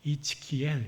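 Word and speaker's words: Ezekiel: 제가 처 생수 안 듣는 발음이라 적어 왔어요 이츠키 이렇게 발음을 한다 그래요 이츠키 굉장히 어렵잖아요 에스겔을 이이라고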